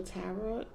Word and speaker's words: tarot: I have my angel oracle deck, the angel answers, and my angel tarot. I wanted to pronounce that T so bad, but anyway, and just to get some guidance.